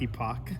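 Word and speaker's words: EpocCam: Did I tell you to pronounce epic? It could be Epic, but I like Epoch. POCH, right? I don't have my glasses on. It's EPOC. There's no H.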